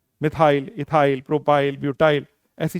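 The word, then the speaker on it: methyl: तो क्या बन गया प्रोनाउंसिएशन, मिथाइल। मिथाइल क्या हो गया, मिथाइल। METH बोला और वाई एल हर बार जोड़ना है, तो क्या हो गया।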